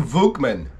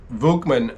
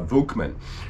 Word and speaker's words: Volkman: huge uh appreciation to Tim vugman um Volkman as it is uh come to me to be understood oh my gosh I'm losing it um it's how it's pronounced properly Tim kindly let me